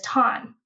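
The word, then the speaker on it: Thanh: My ethnic name is Ton. Like Tanya, but it's spelled T Han Nh, right?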